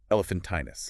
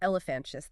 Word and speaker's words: elephantinus: The correct species name given by Jervves is a elephantinus. Elephantinus, not elephantis.